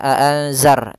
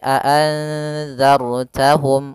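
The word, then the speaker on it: أَأَنذَرْتَهُمْ: Hati-hati juga sebelumnya ada dzal bukan za tapi bukan zai ya. Bukan dibaca azar tapi azarttahum. Ujung lidahnya harus menempel dengan gigi seri.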